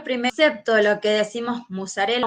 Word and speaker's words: mozzarella: concepto lo que decimos mozzarela mozzarella porque se puede pronunciar de las su origen italiano y nosotros también lo